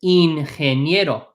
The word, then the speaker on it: ingeniero: This is because every single time you have a G followed by an E in Spanish, the letter G is pronounced like an H.